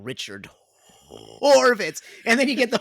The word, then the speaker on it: Horvitz: to do that right it's hard to go that that D to a hard H I was I was